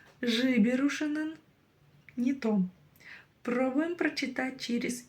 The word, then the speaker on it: жіберушінің: Произнесите обычную букву Н. Заметьте, что у вас язык упирается в верхние зубы. Н. Н. А затем пробуйте кончиком языка дотянуться до верхнего неба. И не дотягиваясь до него, произносить снова букву Н обыкновенную.